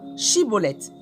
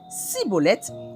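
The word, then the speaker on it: Schibboleth: S'il répondait non, ils lui ordonnaient de prononcer le mot « Chiboleth ». S'il disait « Ciboleth », parce qu'il n'arrivait pas à le prononcer comme eux, il le saisissait et l'exécutait près des gués du Jourdain.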